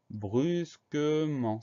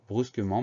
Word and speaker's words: brusquement: son en cévennes et on a une lettre muette à la fin du mot c'est la lettre t qu'on entend pas mais c'est une syllabe